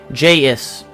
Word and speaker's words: J-is: J-is. Actually, yeah, I realize ICE at the end of Justice is pronounced is, not ice. So it's J-is.